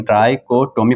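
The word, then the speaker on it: trichotomy: इसको प्रोनाउंस आप कुछ भी कर सकते हैं, ट्राइकोटोमी भी बोल सकते हैं, जो आपको दिल करें वो बोल लें, उसका कोई इशू है ही नहीं। लेकिन ट्राइकोटोमी पढ़ा जाता है प्रॉपर्टी।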